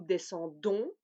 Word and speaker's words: descendons: Et ici, on commence à prononcer le D. Nous descendons, vous descendez, il, elle descendent.